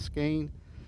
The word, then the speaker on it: Skahin: All right, and that Clayton is pronounced his last name is Skane.